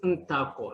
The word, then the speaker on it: Ntakor: Ntakor, jump on, my friend. Thank you. Thank you. Yes. You got the comp there. Yes, Ntakor, that's how it's pronounced.